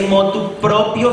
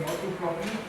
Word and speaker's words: motu proprio: A modo propio, pero no se dice motu propio, sino propio. Siempre comienzan con la expresión motu proprio, excepto si.